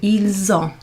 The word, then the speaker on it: ils ont: What's happening there is the S is pronounced in front, so ils ont. It's kind of a Z.